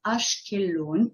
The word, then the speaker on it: Ashkelon: refer to the name so the name is ashkeloon okay sometimes it's spelled with a K sometimes it's spelled with